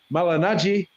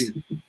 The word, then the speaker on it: Malignaggi: My seat, I got in the middle row, and I was watching Paulie Ma, Malignaggi yeah.